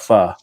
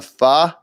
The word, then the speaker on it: pho: a week, and I've eaten a lot of pho.